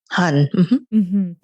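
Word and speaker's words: 한: Is the word pronounced Han? Han.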